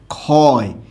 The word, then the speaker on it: ক্ষয়: আবার এখানে ক্ষতি, এখানে পরবর্তী বর্ণে রস্বইকার থাকার কারণে খ হবে, ঠিক আছে, কিন্তু ক্ষয়ে ওকার হবে।